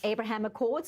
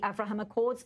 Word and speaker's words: Abraham Accords: Back in studio, Dan Perry, much mention was made of the Abraham Accords, also the Avraham Accords, also another pronunciation. I think news anchors the world over will be learning how to choose the correct pronunciation.